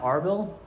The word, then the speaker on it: Arbel: But I realized also yesterday, I mispronounced this mountain here. It's actually called Mount Arbel, not whatever I said. It's pretty close though. It's both started with an A.